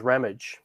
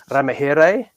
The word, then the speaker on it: Ramage: And my mum says it's Ramage like bucket for those that used to watch, Keeping Up Appearances with Mrs. Bouquet. But, it can be pronounced in many different ways. I can be Ramahere, I can be Ramaji, or I can be Ramage. There's lots of different ways that I can pronounce it.